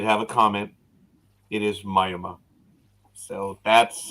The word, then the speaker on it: Miami: know Jay did have a comment it is Myoma so that's how they pronounce it yet in Klingon it's mayama in Latin it's mayama in Spanish it's oh don't get it oh it's Miami it's Miami Miami rest of the world is